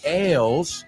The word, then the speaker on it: ails: Y esa palabra ails se escribe A-I-L-S. Sin embargo, se pronuncia igual que ales, la cerveza, right? Ales.